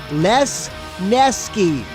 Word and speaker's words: Lesneski: As far as the pronunciation of my last name goes, the easiest way to pronounce it is 3 syllables. Les Nesky. Like Les Nessman. All right, Lesneski.